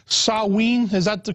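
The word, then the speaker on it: Samhain: the real name I think it was called sawe is that the correct the correct pronunciation that's yeah in in the Celtic British Isles yeah sa it's spelled s m ha a i n but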